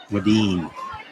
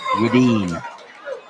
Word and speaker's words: Wedeen: Whedon is pronounced Wedeen. Well, you learn something new every day. So thank you very much, Matt Spaeth. Keep that information. Wedeen.